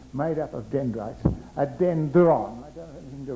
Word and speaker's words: dendron: So now I'm going to call this unit, which is for reception, made up of dendrites, a dendron. I don't have anything to write with, but I'll spell it, D-E-N-D-R-O-N, dendron.